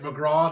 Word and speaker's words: McGrath: In Ireland, we don't pronounce our THs, so that's how we get McGraw.